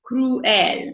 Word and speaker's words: cruel: Okay, so that's why when you speak it, it's cruel. You really want to sound those two, the u and the el, separate, because it really makes the word.